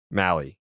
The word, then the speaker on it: Mahle: Mahle? Yeah, I think it's the first way I just said it, because it apparently rhymes with rally.